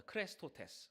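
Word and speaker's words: χρηστότης: 크레스토테스. 크레스토테스. 크리스토테스. 무슨 말하고 비슷해요? 크리스토테스. 크리스. 크리스토. 크리스토. 크리스토. 예, 크리스도. 그리스도랑 좀 발음이 비슷하잖아요.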